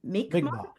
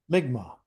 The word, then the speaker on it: Mi'kmaq: Migma, sorry, Migma.